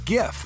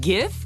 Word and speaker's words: GIF: That's less time than you spend arguing about how to pronounce GIF. Wait, GIF or GIF? Hard G.